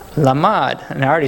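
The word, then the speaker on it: לָמַד: You guys want to guess how it's pronounced? Lamad.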